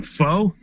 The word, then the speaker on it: Pho: Pho. Yeah, man, Vietnamese noodle soup. It's spelled PHO, so you'd think it's called pho, but it's called pho.